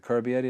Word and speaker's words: Carbery: Is it Carbery? That's how you pronounce it.